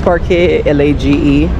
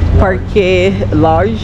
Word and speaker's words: Parque Lage: Then we're gonna go to the other park, which is Parque Lage. See, I'm not even pronouncing it. Parque Large. Yeah. I'm thinking it's large, but I've been mispronouncing everything, so.